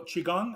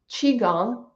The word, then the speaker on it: qigong: if you study medical Qigong how do you pronounce that Qigong Qigong okay go ahead um the pronunciation I'm sorry the spelling c-h-i g-o-n-g helps to understand how to pronounce it I think okay